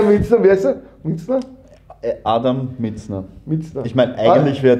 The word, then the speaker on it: Mizner: Adam Mitzner. Mitzner. Ich meine, eigentlich wäre es ja englisch ausgesprochen.